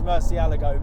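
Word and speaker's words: Murciélago: I generally always default to Murcielago, but it's actually, whenever we went on the Lamborghini tour, they taught us how to say it, and it is Murcielago, but no one does.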